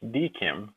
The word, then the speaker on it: DKIM: video we'll discuss what dkim commonly pronounced deim does and why you